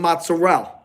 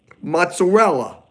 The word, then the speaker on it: mozzarella: Technically, I don't like when Italian Americans leave off the E. They go, I need some mozzarella. I need some bolognese. And they think they're talking in dialect. They're not talking in dialect. They're just not pronouncing their words properly. It's bolognese. Mozzarella. So any of you guys watching, if you say mozzarella, stop saying mozzarella.